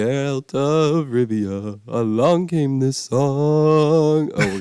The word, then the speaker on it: Rivia: RI oh my gosh forget it I can't pronounce it anyway Rivia that's what it is yeah yeah good job